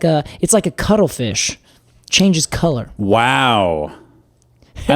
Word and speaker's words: CTLFSH: But it's spelled like CTLFSH. No vowels. Cuttlefish.